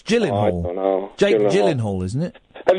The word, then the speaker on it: Gyllenhaal: It's a soft It's a soft G. It's Gyllenhaal.